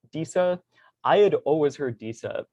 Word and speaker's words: Disa: sort of orchid software it listed as daisa for the pronunciation and i haven't gotten a clear answer we were kind of chatting about it when i first signed on trying to figure it out but i'll be using diesel throughout this talk and